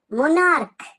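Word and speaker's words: monarch: উচ্চারণটা ক এর মত মনার্ক মোনারক মানে হচ্ছে রাজা রাজাকে আমরা বলি মনার্ক কিং মনার্ক দেখ এম ও এন এ আর এইচি আছে কিন্তু সি এইচ এর উচ্চারণটা ক এর মত তাহলে তাহলে প্লুরাল করতে গেলে কি হবে?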